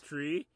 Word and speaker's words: three: me we pronounce it three because Jamaica seems to eat the H when we pronounce the number three and thanks for that